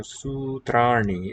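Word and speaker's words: सूत्राणि: Take me to your sutrani is the plural. Sutram, neuter singular. Sutrani, plural. Su and a long u there in the first.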